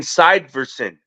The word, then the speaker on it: Syverson: And then Syverson, like Iverson, Syverson.